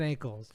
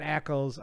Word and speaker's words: Ackles: said on our fan Jensen ankles or Eccles I keep saying ankles every time I say his name Jensen Ackles um something like that